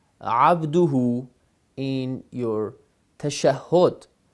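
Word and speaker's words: عبده: abduhu in your tashahhud, is pronounced abdahu, and you've been praying like a year, 2 years, 3 years like this, because you thought that the word pronounced it abdahu, but today you learned that it is abduhu.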